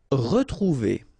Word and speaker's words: retrouver: Retrouver. Okay, here, like that without any accent, it's really pronounced like retrouver.